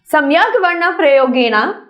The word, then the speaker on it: सम्यग्वर्णप्रयोगेण: मैं आपको प्रोनाउंसिएशन भी सिखा दूंगी इसकी। इसको बोलेंगे सम्यग, सम्यग वर्ण प्रयोगेण।